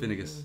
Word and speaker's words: Finnegas: And he went on to learn poetry from Finngus. Or Finnegas. How would you pronounce that, James? Finnegas, I think. Finnegas, yeah.